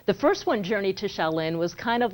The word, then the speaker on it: Shaolin: Shaolin, you got it. Good pronunciation, yes.